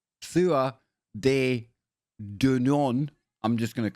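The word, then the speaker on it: Tuatha Dé Danann: Tuatha de Danann, pronounced Thua de Danann, I'm just going to call them the tribe of Danu from now on.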